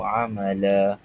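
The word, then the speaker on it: عَمَلًا: Jadi cara bacaan dia kita panjangkan sepanjang dua harakat dan kita anggap dia sebagai satu baris fathah sahaja. Jadi cara baca yang betul. Linabluwahum ayyuhum ahsanu amala amala amala la tu dua harakat.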